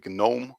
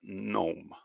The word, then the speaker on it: gnome: m sound gnome so some people see this word and they automatically say gnome or something like that but actually it's gnome gnome if you're wondering what